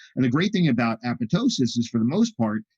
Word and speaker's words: apoptosis: dead tissue and there's apoptosis apoptosis a lot of people mispronounce this apoptosis but the second p is actually silence apoptosis and uh apoptosis